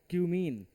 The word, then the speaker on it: cumene: लिखो from क्यूमीन। From क्यूमीन।